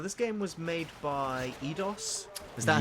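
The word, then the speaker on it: Eidos: and fire so this game was made by idos is that how you pronounce it yeah idos idos yeah um they're still going aren't they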